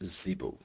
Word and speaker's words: Zeebu: let's continue please now this is how the um the token is pronounced Zeo right it has a